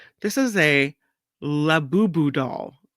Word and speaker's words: Labubu: This is a Labubu doll. Labubu.